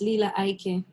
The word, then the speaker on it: Lila Ike: Because I've heard so many people pronounce your name different ways. Yeah, man, it's Lila Ike.